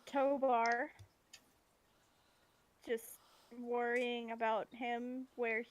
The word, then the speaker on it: Tobar: Tobar, not Tovar.